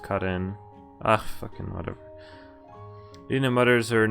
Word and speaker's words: Karin: Sara, Karen. Oh, it's pronounced Karin.